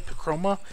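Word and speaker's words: Picroma: their own website it's this company called pacroma I think pic r-o-m-a pachroma is how you pronounce it um and you can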